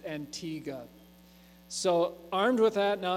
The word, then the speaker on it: Antigua: pronounce it that way they pronounce it with a hard G so Antigua so just as it's